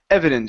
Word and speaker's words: evidence: here so first up instead of evidence e it's e evidence short e sound evidence good so they